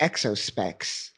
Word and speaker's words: exospecs: It should be exospecs, like spectacles.